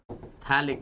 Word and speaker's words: phthalic: Its name is P silent phthalic acid.